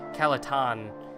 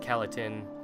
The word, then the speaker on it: Calaton: Someone pointed out to me, it's Calaton and not Calatin. Calaton. So I'll try and pronounce it like Calaton.